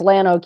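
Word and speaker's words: Llano: We've in Texas we've lost the whole we don't we don't pronounce the Spanish double l That's right.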